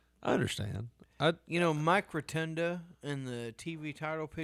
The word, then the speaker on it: Rotunda: Does it bother you when some people call him Rotundo? I mean, I understand it's Rotundo, but No, like, it's Rotunda. It's A at the end, not O.